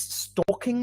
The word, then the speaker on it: stalking: networks like he he's stalking me or she's stalking me but in spanish we sometimes say and there we pronounce the l so it's like uh we don't follow the rule okay ambedo is contributing